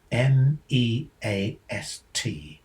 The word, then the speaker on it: MEAST: How must MEAST be pronounced? Apparently, the guidelines say it combines the from March with the E, that's EA, from leaf or deaf, and the ST from feast.